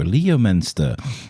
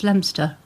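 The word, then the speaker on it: Leominster: So funny watching foreigners go Leo Menster. They had to say it in my driving test. Yeah. She said, "We're going left towards Lemster or otherwise known as Leminster."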